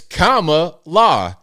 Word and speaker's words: Kamala: oh so so cringe pronounce the name right Al it's Kama law you see that so